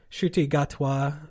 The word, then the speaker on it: Ncuti Gatwa: to look this up to make sure I'm pronouncing it correctly. Ncuti Gatwa from the Netflix series Sex Education.